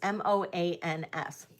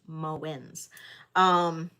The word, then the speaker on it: Moens: And this is a company called Moens, Moans, like Moans, but it's pronounced Moens.